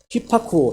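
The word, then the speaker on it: ὑπακούω: 헬라어로는 이거 발음이 되려나 벌써? 히파쿠오래. 히파쿠오. 한번 배워볼까요? 휘파람 물지개 그리고 파란색 가치개 그리고 이제 쿠오입니다. 휘파쿠오 시작.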